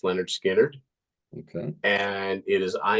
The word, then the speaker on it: Lynyrd Skynyrd: that you've already mentioned um from the debut pronounced Leonard skinnard okay and it is I ain't the one